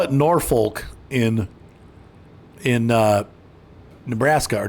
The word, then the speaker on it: Norfolk: roads crabby police officers yeah it's not pleasant Norfolk that's where we're going D so I know in Virginia it's pronounced norfol like nor do they call it Norfolk in in uh Nebraska or do they pronounce